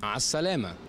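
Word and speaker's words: مع السلامة: Ma salama. Ma salam. Goodbye. Ma salama. Ma salam. It spells salama, but they say salam.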